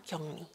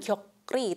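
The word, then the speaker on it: 격리: karantina Nah itu namanya kyong ni Tapi bacanya bukan kyokri tetapi kyong ni jadi kyoknya menjadi Eng rnya menjadi Nen ya jadi kyong Nika pulyo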